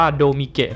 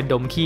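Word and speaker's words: Domke: ว่า ี้ นะ ครับ ถ้า อ่าน ตาม หลัก ภาษา ญี่ปุ่น จริง ๆ ต้อง อ่าน ว่า โดมิ เกะ นะ ครับ ส่วน ใหญ่ ผม เห็น คน ไทย เพี้ยน กลาย เป็น ดม ขี้ จน ได้ นะ ครับ อีก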